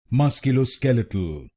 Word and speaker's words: musculoskeletal: Musculo lo scale a tu musculo lo scale a tu then it will become musculo skeletal musculo skeletal and in this word you have to stress on the fourth syllable musculo skeletal musculo skeletal